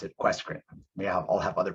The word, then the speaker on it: QUESCREN: communities research network, or as I like to pronounce it, QUESCREN.